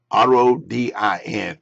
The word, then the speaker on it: Rodin: Now we have Rodin, R-O-D-I-N, but we pronounce his name Rodin, Augusto Rodin.